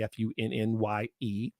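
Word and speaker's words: Funnye: Looks like it's spelled funny, Funye.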